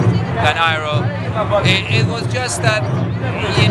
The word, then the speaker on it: Iroh: It was just that, you know, Eero is basically a little more foreign, because Iroh is a more American way of pronouncing, and it was just a preference to give that, you know, give that feel to the character.